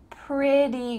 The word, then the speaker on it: pretty: The reply is pretty good, pretty good. Now, if you wanna sound like an American, the word pretty, even though it has T's, it's gonna sound like a D sound.